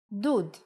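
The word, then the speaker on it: דוד: like uh for example if we take the same letters from David and instead of we add shrok it will be dud electric water heater perhaps now you can appreciate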